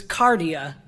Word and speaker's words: cardia: It's cardia, from which we get the word cardiac, is what that particular